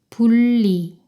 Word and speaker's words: 분리: 이건 어떻게 될까요? 니은이 리을과 만났네요. 니은이 리을 발음으로 변해요. 분리, 분리.